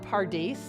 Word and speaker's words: Pardes: It sounds like paradise.